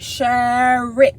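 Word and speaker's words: Sherrick: dude name is shirk shark um let me spell it for y'all sure sh uh s-h-e-r-r-i-c-k shirt okay forget my dc accent right sure rick okay shaving shad all the boys are hanging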